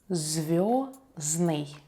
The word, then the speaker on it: звёздный: Звёздный. Звёздный. Adjective star or starry. We don't pronounce the letter D here.